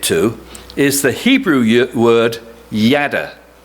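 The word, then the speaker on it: יָדַע: the hebrew word yada i may not have pronounced that right but as probably a few of you know how to pronounce it i'm going to go with yada and and pastor who actually does know is nodding so i'm on the right track it appears roughly a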